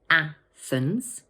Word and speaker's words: Athens: This word has two syllables, Athens, and the first one is stressed. Watch out for that tricky th sound. Put your tongue between your teeth and push the air out, like this.